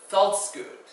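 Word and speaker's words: veldskoen: The F sound is usually spelled with a V letter. So words like vetkosi or veldskoot, it's not pronounced always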